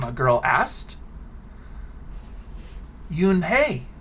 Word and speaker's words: Unhei: notice i pronounced it oon hey because i thought that's how it sounded but she tells us it's spelled u-n-h-e-i and it's pronounced yoon hey you high excuse me yoon hai oh it's yoon hey